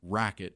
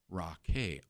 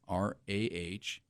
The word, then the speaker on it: Raquet: She goes, my son, but, it's not Racket, it's Raquet, Rahkay. Phonetically.